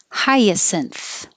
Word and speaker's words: hyacinth: The synth at the end is a weird combination. I put synthesis here because it's more common to see this synth combination written as synth, synth, synthesis. But here it's cinth, hyacinth.